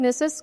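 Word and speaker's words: gneiss: गिनेसिस गनेस क्या है नेसस को हम क्या नीस प्रोनाउंस करते हैं ओके नीस प्रोनाउंस किया जाता है एक हाईएस्ट ग्रेड का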